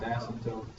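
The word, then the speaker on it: asymptote: a stab that asmt yeah p is silent asmt what you really need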